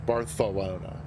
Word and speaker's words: Barcelona: he reminded me that people in the south and east of Spain tend to pronounce the Zed as th so for example I